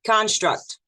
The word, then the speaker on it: construct: Let's go to the first word, construct. So we look at this word in front of you. There's two ways to say it. Construct, with the emphasis on the second syllable.